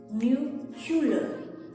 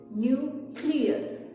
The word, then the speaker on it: nuclear: is the word where people often get confused about the order of the sounds and pronounced it new hula but the correct pronunciation is new clear new clear for example